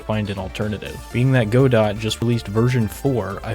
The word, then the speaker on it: Godot: to work with Godot yes I pronounce it Godot I know people pronouncing Godot but I mean come on it's a robot it's Godot I initially started this